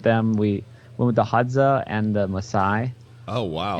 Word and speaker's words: Hadza: Hadza.